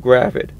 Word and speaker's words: gravid: I was right the first time. Gravid.